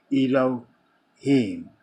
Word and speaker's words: Elohim: How do you pronounce that? Elohim.